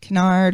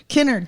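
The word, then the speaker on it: Kennard: know how you say his name exactly get canard or Clark innard Kinnard thank you I was like when canard is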